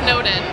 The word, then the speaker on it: Snowden: And the site for that is http:/Snowden, like a den of snow, and is spelled like the boy's name.